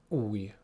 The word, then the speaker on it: új: And our word for today is új.